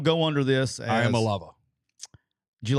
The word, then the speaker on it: Iamaleava: I think it's Iamaleava. Okay. It might be Iamaleava. Might be Iamaleava, but it's Malava is the end.